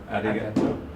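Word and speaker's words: ありがとう: Arigato.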